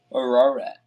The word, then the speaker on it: Ararat: Ararat. Ararat. How do you pronounce that?